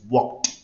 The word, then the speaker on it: walked: La pronunciación es walked, walked. ¿Alguien me puede decir con cuál es la pronunciación final? D, T o ID. Walked, walked. Con la T. Con la T, con la T, walked.